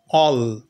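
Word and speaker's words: all: পরে দুটো এল আছে তখন তখন এ এর উচ্চারণটা অ তাহলে এল এল অল ঠিক সেই রকম দেখো এই যে বানানটা বি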